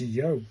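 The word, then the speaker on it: よ: This is pronounced like Y-O, pronounced like the Y-O in yo-yo, so it's a yo, isn't it?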